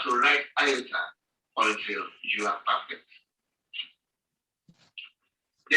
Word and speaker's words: iota: The ninth letter of the Greek alphabet is named iota. Some people call it iota.